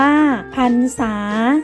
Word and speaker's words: พรรษา: เรื่อง ความ ยิน ดี พรรษา อ่าน ว่า พรรษา หมาย ถึง ช่วง ระยะ